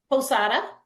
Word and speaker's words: Posada: how do you My pronounce your last name? Posada. Oh, Posada.